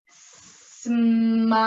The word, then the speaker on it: smile: the l sound and e is silent here we go ready o smile smile very good